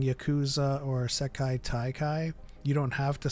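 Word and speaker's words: 世界大会: said, and I don't mind saying Yakuza or Sekai Taikai.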